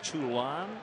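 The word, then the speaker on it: Toulon: floor loves the Cubs and Dorothy Reed it's pronounced tulon Illinois t o u l o n as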